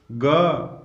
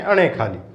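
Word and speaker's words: ङ: लेकिन यदि हकीकत में उच्चारण देखा जाए तो आज आपको एक नई चीज सीखने को मिलेगी। यदि आप उच्चारण करेंगे तो इसका उच्चारण होता है गे। क्या होता है इसका उच्चारण? गे। गे को नाक से बोलोगे तो गे का उच्चारण होगा, और उस वही गे जो है उसको हम बचपन से अणे खाली बोलते हैं, जो कि क वर्ग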